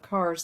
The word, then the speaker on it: Cars: like the plural of cars the vehicle it's pronounced like you're just cutting off the the on part of carson so cars yeah got